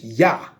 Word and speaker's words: YHWH: The key is whether you serving YHWH, Yah. And it's pronounced just Yah, not nothing else.